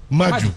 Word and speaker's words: Madiou: Ça se prononce Madiou ou Madjou? Madjou, voilà.